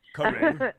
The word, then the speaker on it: Karen: And the reason I did it that way is because people call me Karen a lot, and that's not how you pronounce my name. It's pronounced Karen. Karen.